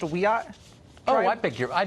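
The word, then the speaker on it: Wiyot: a member of the Wyatt Tribal Council in California and she joins us tonight Madison thanks for coming on hi um thank you for having me it's pronounced weat oh I beg your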